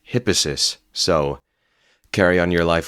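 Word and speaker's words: Hippasus: thought you might want to know it's actually pronounced hippis so carry on your life with that bit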